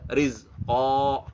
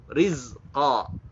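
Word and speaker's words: رِزْقًا: Yang diperhatikan adalah ketika qaf ya, nggak boleh rizqa. Nah, itu nggak boleh. O-nya hijaiyah itu tidak membulatkan bibir. Ingat, nggak ada yang O bulat gitu ya. O bulatnya kita tuh nggak ada kayak gitu.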